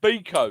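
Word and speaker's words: Beko: The brand name rhymes with Leo." Yeah. I've decided it's already uh more useful than Leo that plays for us. Yeah. So, you've got a Beco Beco.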